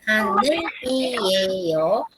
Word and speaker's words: 하늘이에요: Entonces, se escribe 하늘이에요, pero en la de pronunciación, ustedes van a pronunciar 하늘이에요. ¿Ok? Esto es importante porque no se lee 하늘이에요. No, nosotros no decimos 하늘이에요. No, 하늘이에요. Ok.